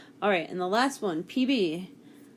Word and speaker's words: Pb: and the last one PB you may say it's peanut butter but it's not is actually Lud why is it PV because in a different language that is how you say Lud alright so as we